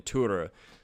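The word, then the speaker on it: Tyre: Uh so is actually the name of tier. We we kind of pronounce it tier today, but it would have been Tur or Tura actually, right?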